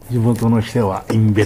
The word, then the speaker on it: 忌部神社: 天皇陛下、読み方が分かりませんでしたけど、インベって読むそうです。